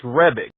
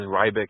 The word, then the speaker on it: Rebic: It's Rebic. A lot of people call it Ribic. When I was in the Army, a lot of people were mistaken as Rybic, and I'm like, it's Rebic. It's pronounced as it's spelled.